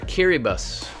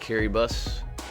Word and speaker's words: Kiribati: Bolivia or Kiribati? Yes, that's how you pronounce that, Kiribati.